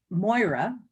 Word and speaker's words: Moira: And so people mispronounce it. They think it's French, like Moira or Moira. It's always ruined.